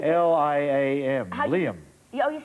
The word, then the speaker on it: Liam: say there it says l-i say it say l-i-a-m liam yeah oh you said it right then